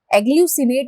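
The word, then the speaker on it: agglutinate: तो आंसर यहाँ हो जाएगा एग्ल्यूसिनेट या एग्ल्यूटिनेट। एग्ल्यूसिनेट इसे हम कहेंगे, मतलब करेक्ट इसका प्रोनाउंसिएशन हो जाएगा ये।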